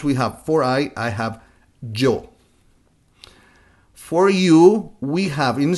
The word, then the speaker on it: yo: In Spanish would be something like when you say Joe, the name Joe without the O, Joe.